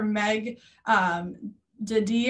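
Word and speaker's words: Daday: to want to look for Meg Dady, I think is how you say it. It's M-E-G Meg, D-A-D-A-Y is her name.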